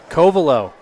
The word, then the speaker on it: Koval: our listeners important update Koval that is how her name is pronounced so apologies to our